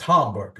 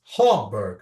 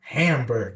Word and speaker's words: Hamburg: And Till was like, oh, it's pronounced Hamburg. It's Hamburg, not Hamburg.